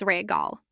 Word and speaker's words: Regal: Pronounce it as prize regal. Once again, regal. This means shelf. Use it in milkal which means the milk is on the shelf. Pronounce it as regal.